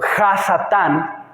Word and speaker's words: Ha-Satán: La Biblia hace referencia a nuestro enemigo como Satanás o Ha-Satán, que sería más o menos la pronunciación, en el idioma hebreo, para referirse a él como el enemigo o el adversario.